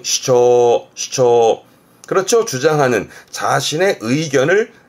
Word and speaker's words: 主張: 발음은 슈초, 슈초.